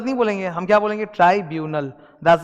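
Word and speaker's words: tribunal: ट्राइब्यूनल, that's the pronunciation.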